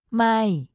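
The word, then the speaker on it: ไม่: which means no problem my is pronounced in a high pitch in this expression it is also important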